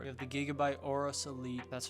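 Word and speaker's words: Aorus: with the motherboard you have the gigaby by oros Elite that's how you pronounce it b550 motherboard this one I got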